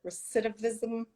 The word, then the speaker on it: recidivism: Because especially when you were talking about the recidivism, I always say it wrong.